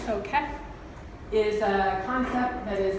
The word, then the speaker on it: K'é: K'é, a lot of people wonder what the pronunciation is, so think like K-E-H in your head. So K'é is a concept that